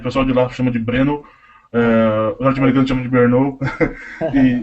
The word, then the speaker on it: Brno: A pronúncia da cidade é Brno.